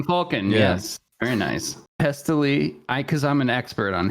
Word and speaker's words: Pestily: Is it Pestily. though? Yes. It's like pestilence.